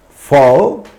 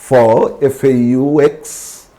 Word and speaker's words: faux: The two words in which X is prominently silent, it's an oxymoron, prominently silent are, these are French words, Faux, F-A-U-X, fake, Faux, and faux pas, a mistake.